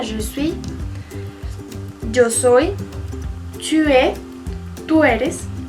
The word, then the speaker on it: es: Tu es. Tú eres. Recuerden, no se pronuncia la S del final.